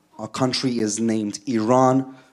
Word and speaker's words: Iran: the Iranian people but you're pronouncing our country's name wrong a country is named Iran not Iran please once and for all let's get this